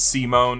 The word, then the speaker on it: Simon: It's Simone. It's spelled Simon.